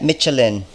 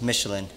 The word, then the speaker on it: Michelin: Michelin P Sports looking real nice we got melin we got melin we got melin and we got melin yes I know it's pronounced Michelin but man it's going to be very comfortable